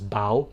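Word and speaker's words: Bâle: There is also the French pronunciation, which is Bal, which is also okay.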